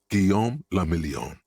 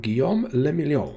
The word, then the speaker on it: Guillaume le Million: Guillaume le Million. So Revachol and Guillaume le Million. If it doesn't rhyme, you're not pronouncing it right.